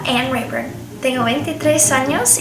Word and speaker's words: Anne Reburn: americana pero en inglés en mi acento se lo pronuncia an rer Tengo 23 años y